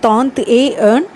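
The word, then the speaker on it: trente et un: ஸோ அதனால தான் ஒரு தடவை ஏ அப்படின்னு ப்ரொனவுன்ஸ் பண்ணால் போதும். அப்போது தாந்த் ஏ ஏர்ன்.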